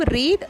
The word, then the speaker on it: read: ஆனால் ஃபஸ்ட்டு ஃபார்மை நீங்கள் ப்ரொனவுன்ஸ் பண்ணும்போது ரீட் அப்படின்னு ப்ரொனவுன்ஸ் பண்ணணும். பாஸ்ட் ஃபார்ம் வர்றப்போ ரெட், பாஸ்ட் பார்ட்டிசிபிள் ஃபார்மையும் ரெட் அப்படின்னு தான் ப்ரொனவுன்ஸ் பண்ணணும்.